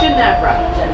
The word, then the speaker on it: Ginevra: It's Ginevra. It's a soft G.